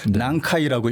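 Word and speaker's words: 南海: 해 한자로 남해를 쓰면은 일본식으로 난카이라고 읽거든요.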